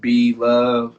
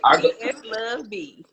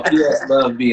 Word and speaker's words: PS Love B: If you are joining the live, this is the live interview with B Love and the ColorBox. You've been saying my name wrong all night. I'm sorry, Love. I PS Love B.